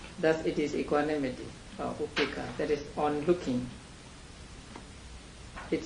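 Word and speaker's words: upekkhā: Actually, We've always pronounced it upeka. Yeah. Upeka. Now, Upeka comes from Upa and Ika.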